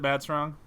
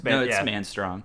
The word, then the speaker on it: Manstrong: Is it Mad Strong? It's Manstrong. Yeah, Bud Man.